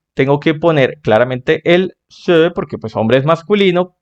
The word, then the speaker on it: ces: que sería el c Recuerda que este Sí suena e se se vale Y así es como